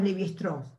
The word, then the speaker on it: Lévi-Strauss: lévi-strauss ahí lo tienen así como era francés le decimos leve strong pero es un apellido